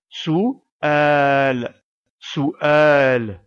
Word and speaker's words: سؤال: et pour finir la lettre Lam que nous prononcerons sans sa voyelle puisqu'on fait la pause à cet endroit sous sous al il faut bien veiller à séparer la voyelle